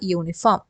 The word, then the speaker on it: uniform: She is wearing a uniform. She is wearing a uniform. Why? Because in all these cases, even though the first letter is U, it is pronounced as Y.